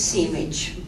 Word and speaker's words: Simic: So of Novica Tadić, Charles Simic wrote, in Serbian it's Simic, but since in this country it is generally pronounced Simic, that is the way I'm going to pronounce it this evening.